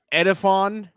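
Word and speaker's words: Edefuan: I want you to pronounce this name, Tug. Edifon Ulofashio.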